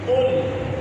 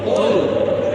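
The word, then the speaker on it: قل: কুল কুল কফ হ্যাঁ ওটা কুল কুল কুল কুল বললে হবে না কুল কুল কাফ যদি কুল বলেন তাহলে কাফ দিয়ে হবে তখন অর্থ হবে তুমি খাও আর কুল সঠিক উচ্চারণ করে কুল।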